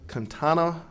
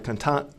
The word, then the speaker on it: Kianta: It's Dr. Kantana Moore. I'm sorry, Dr. Kianta Moore, Dr.